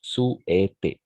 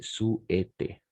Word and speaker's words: souhaiter: Voilà, souhaiter. N'oubliez pas, le H est muet. H muet, souhaiter.